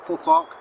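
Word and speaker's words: futhorc: northumbrian um forth Arc which is called full thak because that's what it's spelled brief historyless if we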